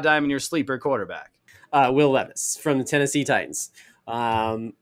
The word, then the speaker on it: Will Levis: surprise a lot of people um I had will levit will Levis excuse me say his name right there um